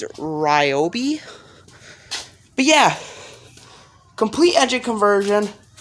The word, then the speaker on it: Ryobi: to pronounce this, but it's not Reboy. I think it's Ryobi.